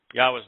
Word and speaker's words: Yahweh: And the following, the concluding sound is another hey, so it's ah. Yahweh's name is easy to pronounce.